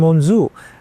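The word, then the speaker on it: monzù: it to be called Monsure but they couldn't pronounce Monsure. So Monsure became Monzu and then from Monzoo that became synonymous with head of kitchen or chef.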